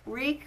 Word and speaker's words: Reek: downfall of how St week week it rhymes with weak just slightly slightly further